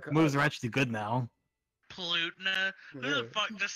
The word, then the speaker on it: Palutena: Palutena? Who the fuck just said Palutena? I mean, have you not explored her custom moves? They're actually pretty cool. Palutena. Palutena. That's the correct way to say the name, bro.